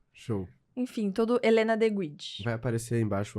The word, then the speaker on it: Guide: rede social é @c guide é um trocadilho que eu fiz com meu sobrenome que embora seja italiano já vou deixar isso claro aqui que é de guid a pronúncia eu fiz uma brincadeira